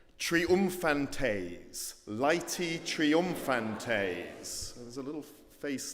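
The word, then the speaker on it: Laeti: getting into it okay it's this word is pronounced laity as in lights Lighty triumphantase Lighty triumphantes there's a little face down there let's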